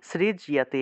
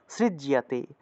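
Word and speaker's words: সৃজ্যতে: সৃজজিয়াতে এইভাবে লিখে দিলে আপনারা অনেক সময় বুঝেন নাজি সৃজিতে গিয়ে টান দিয়ে দেন সৃজিয়তে বলে ফেলেন সৃজিয়তে সৃজিয়তে বলে ফেলেন এটা সৃজিয়তে হবে না তো সৃজজিয়াতে সৃজজিয়াতে অর্থাৎ সৃজয়তে এই দুইটা অংশকে একসাথে বলতে হবে সৃজজিয়াতে সৃজিয়াতে এইভাবে আচ্ছা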